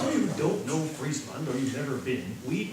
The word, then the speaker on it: Friesland: Friesland. Friesland. Everybody say Friesland. Sort of roll the R. It's not like Friesland.